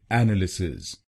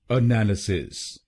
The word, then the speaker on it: analysis: भारत में काफी लोग इस शब्द को गलत बोलते हैं, जैसे एनालिसिस। चलिए सीखते हैं इसकी सही प्रोनाउंसिएशन। इसकी सही प्रोनाउंसिएशन है एनालिसिस। एनालिसिस। इस शब्द में 4 शब्दांश हैं। पहला शब्दांश है ए, दूसरा शब्दांश है NAL, तीसरा शब्दांश है Y और आखिरी शब्दांश है SIS।